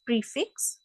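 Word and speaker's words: prix fixe: menu tonight next is prefix okay look at the spelling it is prick fix but we pronounce it as prefix so the X in the first word is silent pre fix it means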